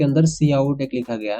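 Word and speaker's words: cout: आउट, इसको सी आउट, काउट आपको दिख रहा है, सी ओ यू टी काउट भी बहुत लोग पढ़ लेते हैं लेकिन वो सही नहीं है, इसको हम प्रोनाउंसिएट करते हैं सी आउट।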